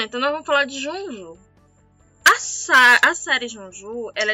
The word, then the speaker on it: Junjou: Se a gente for pronunciar no japonês fica Junju. É Junju.